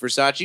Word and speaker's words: Versace: Kyle MacLachlan, his character is such a dick for pointing out that it is actually pronounced Versace. Yeah.